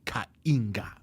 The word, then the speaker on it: Kainga: This is because when my African people listen, they can't stand it when you say Kainga. They're like, what is he talking about? What is a Kainga? Because the name is supposed to be Kainga. Kainga. Yeah, Okay. that's how you pronounce it.